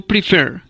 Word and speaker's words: prefer: sílaba que se acentúa como el verbo prefer que se acentúa en la última sílaba y en cambio happen